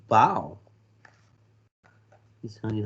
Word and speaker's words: bao: Bao like bao. He's telling you how to pronounce it. B-A-O sounds like B-O-W, bao. Not like bow on a kitty.